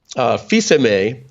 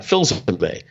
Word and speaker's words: Filsaime: So Filsaime is the way my father pronounced it. And so I made an American version of that, Filsaime.